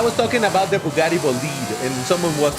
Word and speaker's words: Bolide: like actually it's pronounced Bolite and I'm like my guy I'm not saying that this car is a B. I'm pronouncing the name of the car which is French which is Bolit.